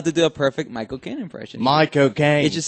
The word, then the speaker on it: Michael Caine: i tell you this if you say my cocaine but you kind of say it like loud and like slightly british you can do a perfect michael kane accent saying michael king yeah it's by cocaine yeah it's like my cocaine michael kaine my cocaine